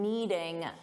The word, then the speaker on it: knead: And notice I said you need to need the dough because I wanted you to hear that the pronunciation is exactly the same. There's a silent K on the verb to need.